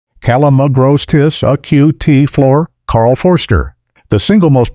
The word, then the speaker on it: Calamagrostis acutiflora: Karl Foerster feather reed grass, Calamagrostis acutiflora, pronounced Calamagrostis acutiflora, Karl Foerster, the single most popular ornamental grass